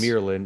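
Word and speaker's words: Amyrlin: Because Emirlin is what they're Emirlin, saying. Yeah, is how they're pronouncing it.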